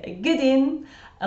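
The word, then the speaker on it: ane: Or someone from Glasgow, for example, might say wan, as in just W-A-N. But in Dundee, the number 1 is usually ain, which I would spell, and I think most people would spell it A-N-E.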